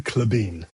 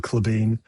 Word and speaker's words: Klabin: It is technically Clebbin, but absolutely nobody's going to say that. So it's Clebine, but usually in England and in America, they say Claybin and because how